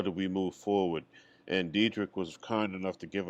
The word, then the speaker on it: Dedrick: Dedrick, yes, sir. I keep looking at your name and want to pronounce the E as a soft E for some reason.